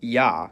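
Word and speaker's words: Я: It's called ya, and as its name suggests, in most cases, it sounds like ya.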